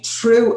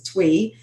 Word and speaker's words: Thuy: So Thuy, so I called you True earlier, and I was like, please tell me how to pronounce it. I did not want to butcher your name, so it's Thuy Tran Porter.